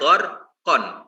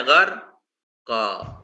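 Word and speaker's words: غرقا: Contoh misalnya wan nazi'ati gharqa, tulisannya gharqon, cara bacanya gharqa, itu ya.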